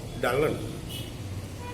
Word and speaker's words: Dylan: because the weight was pronounced like dalan and the people might regard him as adult person and dylan wanted his name to be pronounced as dylan dylan became popular through